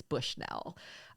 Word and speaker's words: Bushnell: about Candace Bushnell and that is how she pronounces her last name that was actually reported in something I read it's Bushnell um I wanted to talk about her a